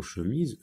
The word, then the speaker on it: chemise: Par exemple, dans le mot chemise, E ici est une lettre muette. يجب الانتباه إلى هذا الحرف الذي مثلا يوجد مرتين في الكلمة، ولكن ينطق في الأولى ولا ينطق في الأخير هنا في هذه الكلمة. ونحن عندما نقرأ هذه الكلمة نقول chemise. Donc, c'est le premier E que j'entends, pas le deuxième.